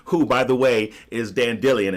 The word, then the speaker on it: Dandelion: by the way is dan Dillian and that is how you pronounce it not dandelion but Dan Dillion desk or they've replaced